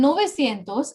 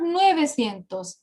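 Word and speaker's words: novecientos: is 700 and nova cientos is 900 that don't exactly use the words siete and nueve it is not sientos it is not nuevos is a short form exception so that pronunciation becomes easier okay we don't say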